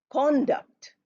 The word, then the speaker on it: conduct: Co becomes C conduct and then if it's noun then we say conduct the conduct of this